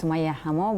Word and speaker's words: Summayya Hammo: Yeah, my name is Summayya Hammo, but when I was a child, my mom called me.